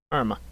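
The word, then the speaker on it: Jarama: see it max you see how it's spelled j-a-r-a-m-a arma that's what it is real penalty for grid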